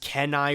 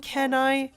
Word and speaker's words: Kenai: think I call him Kenai but uh the real thing is keenai I think could be the other